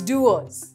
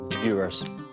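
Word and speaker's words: Dewar's: So it's Dewars. The easiest way to remember it is just Dew, like a dew droplet of rain. Dewars. Dewars.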